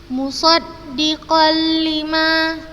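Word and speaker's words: مصدقا لما: hukum idgham bilagunnah dan cara membacanya dimasukkan tanpa guna ustadzah contohkan hai musoddiqollima musoddiqollima seperti itu hai bukan dibaca musodiqon 5la eh salah dimasukkan langsung ke huruf berikutnya huruf lam maupun huruf ro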